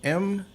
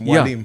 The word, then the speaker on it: Mwalim: If you think about it, it's like where I usually tell people is like it's the French moi. Yeah, the way it's pronounced Mwalim.